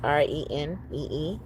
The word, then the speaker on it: Renee: Okay, Renee, Renee. Okay, with the accent on the E.